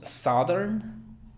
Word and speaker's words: southern: Alguien diría southern o southern. No. Cuando van dos vocales juntas, como en este caso O, normalmente se pronuncia la primera, sa, pero esa O no es O, sino O. Southern. Es con boca de A. Southern. Sonido TH. Southern.